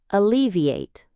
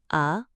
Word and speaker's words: alleviate: Alleviate. 4 syllables. A-le-vi-ate. The stress is on the second syllable. Alleviate. It sounds alleviate.